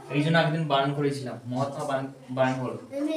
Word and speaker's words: মহাত্মা: মহাত্মা গান্ধী। তাহলে এখানে বলেছে হু, কার, কে? Mahatma Gandhi. মা। এই জন্য একদিন বারণ করেছিলাম মহাত্মা বারণ বলো।